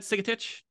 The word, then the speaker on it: Sigetich: on for a second conversation this is Andrea sigit did I remember the pronunciation right that sigit you did beautifully yes thank you um I